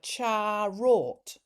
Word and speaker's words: charot: And so charo, it's like charot. Charot. Is there a T on the end of that?